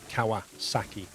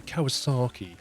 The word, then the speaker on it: Kawasaki: so if it says Kawasaki it will be Kawasaki like that it won't be Kawasaki or anything like this yeah you tend to get that down south of England I was so lucky you're like no it's a Japanese name you've got to give it some Japanese twang isn't it sort of